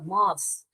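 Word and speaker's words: moth: इसको देखिए और स मॉस मॉस स सिर्फ हवा आ रही है स म ध नहीं पढ़ते हैं हम ध नहीं बोलते हैं हम इसके मॉस मॉस मौत मौत क्या होता है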